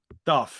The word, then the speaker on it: Dååth: I've done a retrospective um how do you pronounce the the I've always the more Darth Darth there we go yeah the um I did